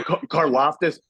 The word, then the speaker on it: Karlaftis: Yeah, Karlaftis.